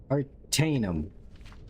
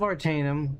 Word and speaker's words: Artaeum: On Artanum. The Isle of Artaeum, thank you. The devs knew, no one could pronounce that.